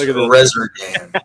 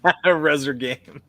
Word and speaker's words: Resurgam: Pronounced Resurgam. Resurgam. It's Latin for I shall rise again.